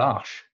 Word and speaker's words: Arche: Royal Arch is spelled with an extra E and it's pronounced Royal Arch.